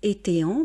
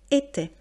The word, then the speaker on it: étaient: Donc ENT qui est ici la marque du pluriel et on ne le prononce pas. J'ai encore des élèves qui disent étéant parce qu'ils pensent qu'il faut prononcer toutes les lettres. Or, en français, on ne prononce pas forcément toutes les lettres. Donc, même avec la marque du pluriel ENT, on va donc prononcer était.